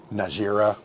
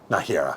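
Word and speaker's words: Nájera: 3 kingdoms, basically Aragon, Najera, can't remember, and then Castilla. Najera, there you go, whatever. They don't pronounce the J's, right?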